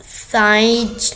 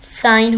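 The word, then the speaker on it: sign: साइज नहीं होता, साइन होता है, दस्तखत।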